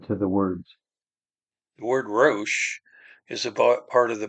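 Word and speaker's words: ריש: So the root is the resh, aleph, shin in the middle, rosh, or resh in this case is how it's pronounced.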